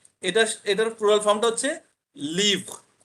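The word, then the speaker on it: livres: এটা, এটার প্লুরাল ফর্মটা হচ্ছে লিভ। এই এসটা থাকবে, আবার এস এর উচ্চারণ হবে না। এস is silent here.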